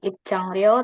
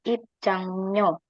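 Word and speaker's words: 입장료: indikasi biaya ada iang nah bacanya di sini bukan I tapi I kena karena jika I ketemu sama R maka rnya akan dibaca n jadi bacanya bukan IP Chang ro tapi IP chango jadi begini Ipang biaya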